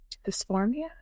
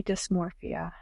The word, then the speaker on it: dysmorphia: thing this nasty little word called um dysphoria. Did I say it right? No. Body dysmorphia. Oh yeah. Dysmorphia.